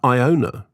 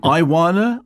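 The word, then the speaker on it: Ioana: And then I would say Iona. But then it says rhymes with iguana. Oh, well, that's but obviously. Is that Iwana or would that be Iwana?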